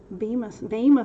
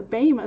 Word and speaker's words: Bema: But we're going to get into a little bit of the Bema seat. Thank you, Professor Nitpicky, for correcting our pronunciation on that. The Bema seat, where we're judged for our works in Mashiach or in the flesh.